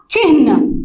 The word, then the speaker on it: चिह्न: हम हमेशा न को पहले ला देते हैं, चिन्ह बोलते हैं। ठीक है, लेकिन सही उच्चारण क्या है, सही प्रोनाउंसिएशन है इसका चिन्ह। ह पहले आता है और वो भी आधा है।